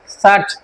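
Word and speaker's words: search: আর ইউটিউবে বা আমরা গুগলে কোনো কিছু যেটা খুঁজি সেটা চার্জ না, সেটা হচ্ছে সার্চ। আর যারা চার্জ বলে এটা আসলে ভুল উচ্চারণ।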